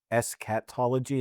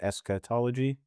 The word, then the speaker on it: eschatology: So wait, so it's eschatology instead of eschatology? Am I just saying that wrong? it sounded like you said it the same way. Okay. Yeah. Well, escat or eska, like either way, it's The same thing.